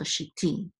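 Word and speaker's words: שִׁיתִי: The tevir at the end is the accent for the last syllable. So shiti.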